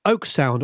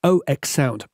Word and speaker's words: Oeksound: seems to be on the oak sound or as i believe it's pronounced ox sound the soothe 2 has